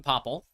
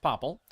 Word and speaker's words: Poplar: And by Poplar, I mean Popple. Popple is the correct pronunciation for my local region. That tree is pronounced Popple.